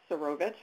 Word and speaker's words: Serovich: I apologize, that's Serovich. I want to make sure I pronounce it correctly.